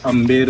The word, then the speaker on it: Amber: वो इसलिए बोला जाता है अंबर पैलेस क्योंकि स्पेलिंग है AMBER। अच्छा। तो जब अपने देश में ब्रिटिश टाइम था तो ब्रिटिशर्स ने उस स्पेलिंग को प्रोनाउंस किया है अंबर।